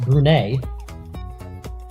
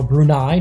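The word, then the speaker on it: Brunei: and now Afghanistan against brune or brunai depending on how you want to pronounce it but here on Marvel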